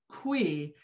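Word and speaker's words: cuy: see the name they're using here c-u-y is pronounced qui and it is specifically uh designated as the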